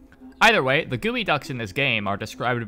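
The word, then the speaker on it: geoduck: this for some reason real life gooey Ducks exist spelled like this instead of the morph phonetic spelling use in Rain world and they're the weird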